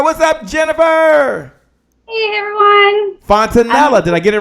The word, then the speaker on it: Fontanilla: Fontanilla. Did I get it right? Fontanilla. Did I get it right? Pretty close. Rhymes with vanilla. Vanilla. Fontanilla.